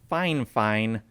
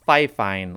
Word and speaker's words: Fifine: and they said that it's actually pronounced fine fine not fi fine like the way it's spelled i honestly don't know